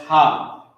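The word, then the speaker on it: הֲ: all right of and it's pronounced ha that's how you pronounce ha character was down for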